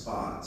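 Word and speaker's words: Spatz: pontiac event there anyway the name was actually spelled s-p-a-t-z and in german that's pronounced spots so the only thing i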